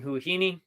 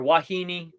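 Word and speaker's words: Huahine: episode is me exploring huhini or wahini I'm not sure there's different ways different people pronounce it um in French Polynesia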